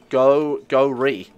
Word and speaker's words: Gori: We're going to call you Gori. Except it's G-O-R-I. That's how you actually pronounce it.